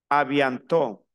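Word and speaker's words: à bientôt: no se lo olvide avianto la t final no se pronuncia cierto Entonces yo digo Aquí avianto en N es an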